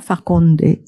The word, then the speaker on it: Farkhonde: Alors, Farkhonde, je prononce bien, Farkhonde, voilà.